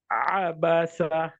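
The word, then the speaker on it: عبس: Next one, abasa. Abasa. Don't say abasa because it's not a hamza, it's ayn.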